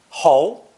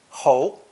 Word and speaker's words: 侯: This character is pronounced second tone, ho, ho.